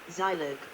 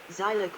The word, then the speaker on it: Zilog: The name, pronounced with a long I, /ZIL// is an acronym of Z Integrated Logic, also thought of as Z for the last word of integrated logic. History, edit. Zilog was started in California